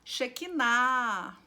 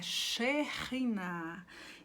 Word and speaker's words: Shechinah: não é espírito santo não é shikai não é Shekinah é sherina e eu quero ler